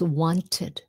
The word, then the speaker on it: wanted: You can't you can't say want, right? So, it becomes wanted.